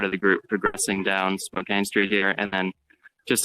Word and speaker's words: Spokane: Pronounced Spokane.